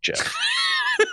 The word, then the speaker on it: Geoff: I hate the fact that this is pronounced Jeff.